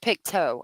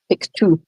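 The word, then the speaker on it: Pictou: Oh, Chrissa, Piku is pronounced pictoe. Okay, thank you. Thank you for that. I appreciate it. Was Kent who lives in Nova Scotia told us Pikto, I think, if I remember that it was Kent.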